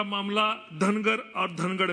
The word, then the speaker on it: धनगर: धनगढ़ जहाँ पे कई जगह प्रोनाउंसिएशन में गलतियां हो जाती है। महाराष्ट्र की बाहर की राज्यों में धनगढ़ बोला जाता है, यहाँ पे धनगर बोला जाता है।